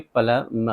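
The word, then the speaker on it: plumber: वैसे तो प्लम्बर हम बोलते हैं इंडिया में, वो भी चल जाएगा, लेकिन असल जो तलफ़ुज़ है इसका सही वो है इंग्लिश में प्लमर, प्लमर।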